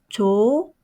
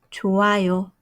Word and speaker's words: 좋아요: So, 조아요. 좋아요. 좋아요. Be careful when you pronounce this one.